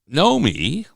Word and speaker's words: Nomi: But Nomi, if you listen, you'll say it slowly. Nomi. How can you say it slowly? There's two syllables. 2 syllables. Nomi, or know me, M-E, like know me.